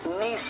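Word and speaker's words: niece: none सन्यासिनी, Neiphiu भतीजा, नीस, इसको नाइस मत पढ़ना, नीस, ठीक है, भतीजी, आंट,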